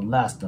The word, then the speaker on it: Last: ね注意してあとはこの Last の T をねえ発音しないように注意してください The Last Time で